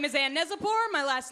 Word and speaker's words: Neczypor: gel today please give it up for ann nezipor everybody dave rubin everybody thank the man how are we doing yes my name is anne neselborn my last name rhymes with lezzy which was an